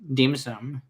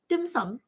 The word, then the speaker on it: dim sum: deme some hours so Deema some dim sum okay I said it wrong all three times but uh anyway so